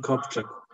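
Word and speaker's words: Copjec: It's Joanne, maybe Krzysztof can, the last name, I can't remember how you pronounce it. Joanne Kopczak.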